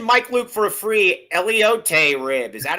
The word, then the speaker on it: elote: Mention Mike Luke for a free Elote rib. Is that how it's pronounced?